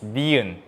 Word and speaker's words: 니은: Next one is 니은 with a N sound, 느.